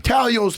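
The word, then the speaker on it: Taglio's: Talio's pizza. The G is silent like lasagna.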